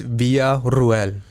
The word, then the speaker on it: Villarruel: Uh, my last name is pronounced via Ruel.